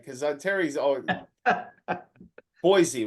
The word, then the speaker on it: Boise: right because Terry's always Boise right Terry is right it is actually pronounced with an S not a z so I mean most people say Boise but it's actually an